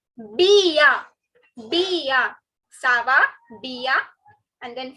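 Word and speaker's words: bien: It is not bn. Okay. Like I just said, not all the alphabets are pronounced. So it is sava Bia.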